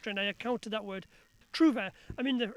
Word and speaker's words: trouvère: I mean, the French, when they pronounce it, they growl the R. But as far as we know, that R wasn't growled in the 12th and 13th century. So if we say trouvère, we can get away with that.